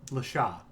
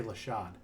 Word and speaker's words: Lashaw: Lashaw. I keep wanting to say Lashad. I don't know why. Like, say it like a Persian. Shaw.